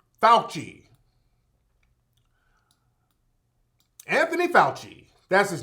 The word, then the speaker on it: Fauci: see Anthony Buchi both how do you hide pronounce his name Buchi Falchi Anthony Fauci that's his name now this is the guy